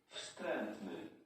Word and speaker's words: Wstrętny: Wstrętny. You don't even pronounce the W, okay.